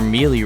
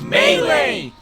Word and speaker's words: melee: you want them outside your mealy range it's pronounced melee right the basic gist is